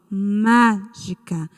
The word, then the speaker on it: mágica: Olha só, mágica. E qual é a sílaba tônica da palavra mágica? Vocês mesmos envolveram o má. Está correto. A sílaba tônica é o má. E é a antepenúltima sílaba.